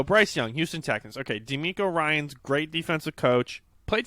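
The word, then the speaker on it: DeMeco: DeMarco Ryans dude. D'Amico? Yeah, I think that's how you say it, yeah. Did I say DeMarco? Yeah. Yeah, it is definitely D'Amico. Okay, great. D'Amico Ryans.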